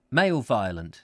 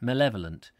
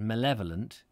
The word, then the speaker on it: malevolent: is that see i can't if i male male violent that's what i meant to say male violent malevolent but when i see it written down i